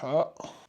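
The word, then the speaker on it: حَ: Dans la langue arabe, on prononce bien le H. C'est pas comme en français où le H ne se prononce pas.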